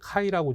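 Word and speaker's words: χ: 이거 X라고 읽지 마시고요. 그리스 문자인데 카이라고 좀 읽어주세요.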